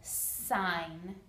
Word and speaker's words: sign: the word sign language sign has a silent g and a long i and it's one syllable sine the word language has